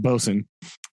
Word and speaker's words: boatswain: Uh they they they promote the bosen which is for reasons unknown to science spelled boats Wayne uh but pronounced bosen.